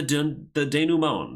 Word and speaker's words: denouement: And then the denouement, that's how you pronounce that.